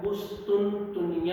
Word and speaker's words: قسطنطنیہ: اس کے جو تلفظ میں بھی غلطی کرتے ہیں اسٹوڈنٹس، اس کو کوئی قسطنطنیہ کہتا ہے، کوئی قسطنطنیہ کہتا ہے یا قسطنطنیہ کہتے ہیں. تو درست تلفظ جو اس کا ہے وہ قسطنطنیہ لفظ ہے.